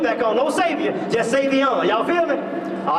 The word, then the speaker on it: Savion: Savior? Wait. Savion? Spell that for me. Okay, like it's spelled S-A-V-I-O-N. Okay, Savion, almost like Savior. Almost like Savior, but without, yeah, so, no, yeah, we're going to take that off.